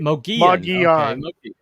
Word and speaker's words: Mogollon: Okay, Mogollon is pronounced Mogollon.